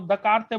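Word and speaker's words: Descartes: देखो 1637 के अंदर जो साइंटिस्ट आया था उसका नाम था डिकार्टेस, है ना। प्रोनाउंसिएशन इंडियंस, जो हम इंडियंस है वो दकारते बोलते हैं इसको, डिकार्टे था, ठीक है।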